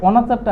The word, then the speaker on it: অনাচার: তাহলে যেহেতু আমরা এখানে অনাচার শব্দ উচ্চারণ করে থেকে থাকি, সেহেতু এই অনাচারটা আমার কি হবে, আমার হচ্ছে বিবিত্ত উচ্চারণ হবে।